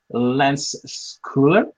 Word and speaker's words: Lance Scoular: severs with our famous and well-known savvy navigator lens cooler did I pronounce correctly your talents you did thank you